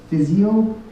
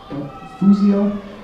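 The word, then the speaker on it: φυσιόω: The other one, do not be arrogant, is physeo, and that's actually interesting. It's from the word to blow up, to puff up, and it's pronounced, it's like physio, fusio, and it means to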